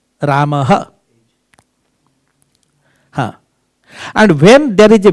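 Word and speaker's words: Ramaḥ: The pronunciation of visarga is H. Ramaha gacchati. Ramaha. R-A-M-A-H. Ramaha.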